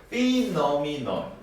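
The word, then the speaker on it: phenomenon: 태양폭풍은 beauful 그래서 여러분 피노미넌 피노미넌 이렇게 발음이 되는 거예요.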